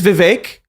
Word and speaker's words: Vivek: It is Vivek. He has made clear it rhymes with cake.